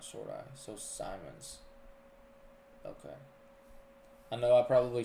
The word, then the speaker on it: Simons: but just a little heads up the correct pronouncing pration St Simmons long eye not short eye so Simons okay I know I probably slaughtered that yesterday